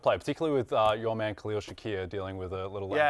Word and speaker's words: Khalil Shakir: his most targeted player particularly with your man Khalil Shakir dealing with a little Yes, that is the way that is the correct pronunciation. Yes, Khalil Shakir.